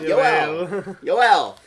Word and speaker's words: Yoel: so our friends at CNN announced names calm pronounce names calm okay yeah well see I was right yo L the first oh well he wasn't in Spanish